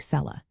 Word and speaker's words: cellar: Similarly, a word like sellar where the r is at the end of the syllable will often be pronounced without the r sound, almost like cella.